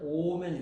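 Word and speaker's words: אֹמֶן: 이것이 구약 성경에서 명사가 되면 오멘이 됩니다.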